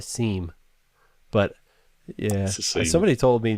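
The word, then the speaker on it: SIEM: interesting thing about and they call it sims but it's spelled s-i-e-m i want to call that a seam but yeah somebody told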